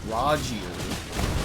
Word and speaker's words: Rogier: I was using barricade shields, I had my summons up for a long time, and Rogier, that's how you say his name, was up for most of the fight.